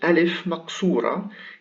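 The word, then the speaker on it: ألف مقصورة: line it is called alif maksura it is written like it is written like a yah but it is pronounced like an alif so it is ah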